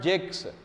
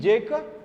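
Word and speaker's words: Jacques: also Russo Gene Jacob sa silent here not Jake's Jean Jacob Russo montesca the reason when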